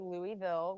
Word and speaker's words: Louisville: So I pronounce it Louisville. Out of towners might say Louisville with a different pronunciation. I would say figure out how you want to say it. There's no right or wrong answer. Everyone is welcome, whether you say it Louisville or Louisville.